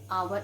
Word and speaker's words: hour: i met him an hour ago we never say i met him and however we say ha hour it is silent here then children the girl